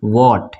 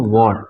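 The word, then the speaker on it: what: silent होता है तो ध्यान रखिए की व के बाद जब भी आता है तो ह साइलेंट हो जाता है जैसे की यहां पे व्हाट इसको क्या पढ़ेंगे हम व्हाट ये एक्स साइलेंट है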